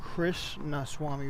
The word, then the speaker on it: Krishnaswamy: Did I pronounce that right? Yeah, I asked him the same thing. He said it was Krishnaswamy, which is what you just said, so yeah.